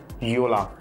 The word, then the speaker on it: Jolla: It starts with a J O L L A and it's pronounced at Yola.